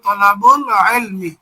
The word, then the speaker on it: طلب العلم: একসাথে মিলে পড়লে হবে তলাবুল ইলমি। আইনটা হলো হরুফে কমারিয়ার অন্তর্ভুক্ত, সেই হিসেবে এখানে সরাসরি বাটা যে আইনকে ধরতে পারবে না, বরং লামকে উচ্চারণ করতে হবে। আমরা এখানে একটা সাকিন দিলাম, তলাবুল ইলমি।